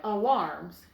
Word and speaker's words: alarms: So we have another vowel that is open because it's right before the split, but it is not accented. The accent is on the second syllable of this word. And so the A is going to make the schwa sound. Alarms, just like we learned yesterday.